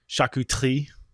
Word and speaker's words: charcuterie: some people call it chakuteri the french would call it shakutri that's a terrible pronunciation but it's better than charcuterie anyway meats and cheeses